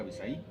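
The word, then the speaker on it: Abisai: o Avis Avis Avis pero no lleva acento en ahí para que diga Abisaí probablemente en tu Biblia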